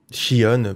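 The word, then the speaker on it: Xion: peu un lien avec vision shion prononcé que vous voulez enfin j'ai depuis toujours je les appelais xi ont donc j'ai du mal à l'appeler shion même vision donc voilà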